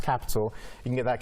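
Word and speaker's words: Qapital: So it's kind of confusing, but it's pronounced Capital.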